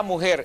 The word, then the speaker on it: mujer: damos bien la palabra mujer es grave de ninguna manera y nunca lo va a hacer a la palabra mujer es aguda porque lleva el acento en la última fila si la palabra mujer